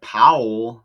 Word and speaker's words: Pawol: And it's pronounced like Powell, like Powell, right? Like Colin Powell, P O W L, but it says it's pronounced Powell the same way P A W L.